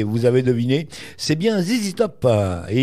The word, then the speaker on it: ZZ Top: C'est bien ZZ Top, et il faut prononcer ZZ, attention.